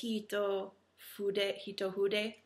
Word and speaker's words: Hitofude: how to pronounce that because in Japanese you don't pronounce the F, I believe, and the I sounds like an E. So it's Hitofude.